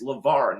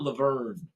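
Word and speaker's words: LeVar: a pretty big star we know he's Lavar not lever so it's just crazy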